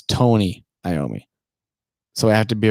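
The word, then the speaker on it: Tony Iommi: what we're talking about is tony naomi it's not tommy i'm not trying to be a dick but we can't be saying the guy's name wrong let me say tony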